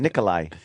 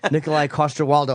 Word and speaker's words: Nikolaj Coster-Waldau: it's kind of a kind of an H e sound Nikolai yeah alright Nikolaj coster-waldau I'm saying it right perfect okay the last